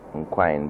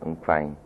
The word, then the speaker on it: Nkwine: I say it now as I spell it, Nkwine, but I'd rather it is said Nkwine.